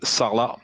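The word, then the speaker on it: Sarlat: a small town named salah that's s-a-r-l-a-t the t is silent some of you will get to know salah by the way of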